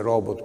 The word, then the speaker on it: robot: La parola robot non si dice robot, ma si dice robot perché è una parola di origine slava.